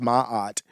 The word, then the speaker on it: Maat: a female goddess actually that that it's actually pronounced Maat but um Mike turmat and then also Jacob